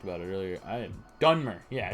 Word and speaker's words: Dunmer: I am Dunmer.